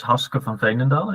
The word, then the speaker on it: Haske van Veenendaal: Uh well, my name is Hoska Fontendal and to pronounce it in Dutch and um I'm a health scientist.